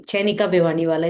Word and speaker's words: Chayanika Bhiwan: My name Chenika Bwani.